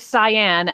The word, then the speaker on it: Cyan: First of all, the little girl's name is Cyan, as in the shade of blue.